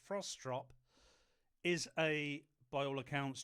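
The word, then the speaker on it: Frostrup: Mariela performative strop or I think as it's pronounced frostrop is a by all accounts journalist, broadcaster, author and campaigner.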